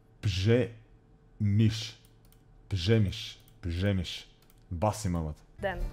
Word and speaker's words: Przemyśl: In Poland, when we have like R and Z next to each other, it's ž. Р и З, да. Пжемиш.